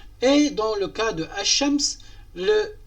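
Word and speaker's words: الشمس: Par la suite, ash-shams, donc on ne prononce pas le L.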